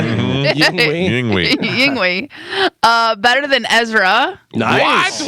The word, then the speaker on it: Yngwie: There's no V in it. It's Yes. W in Swedish. That's a V. Well, we're in America. So what do we call? How do we say his name in America? Yingwi. Yngwie. That's how it's spelled. You know how as we do in America.